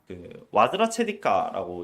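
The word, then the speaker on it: Vajracchedikā: 근데 우선 이 금강이라는 단어 자체가 실제로는 이 수트라가 와즈라 체디카라고 읽혀요. 이게 와즈라는 거 이제 바즈라라는 개념인 건데, 이게 벼락인 거죠.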